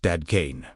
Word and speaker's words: Dadkein: This is why the message of Dadkein, pronounced Dadkein, meaning pure, transparent, cleansed of distortion, remains just as revolutionary today as it was on the hillside overlooking the Sea of Galilee.